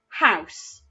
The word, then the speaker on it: house: Don't forget that though that letter E at the end is silent, it still needs to be there when we spell it.